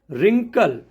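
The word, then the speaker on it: wrinkle: डब्लू का pronunciation नहीं होता है जैसे रिस्ट रिंकल तो डब्लू आर आई एस टी है तो रिस्ट हो गया डब्लू आर आई एन के एल ई है रिंकल हो गया कभी भी डब् के बाद अगर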